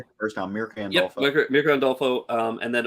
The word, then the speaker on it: Mirka Andolfo: Day, and this is Mirka and I can't pronounce her name right. And Andolfo. You said it right the first time. Mirka Andolfo.